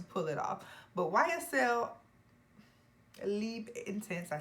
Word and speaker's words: Libre: But YSL, Libre Intense.